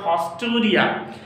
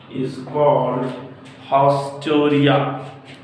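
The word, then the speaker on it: haustoria: Through a special structure called hosteria. If you can't see, I will pronounce it hausteria.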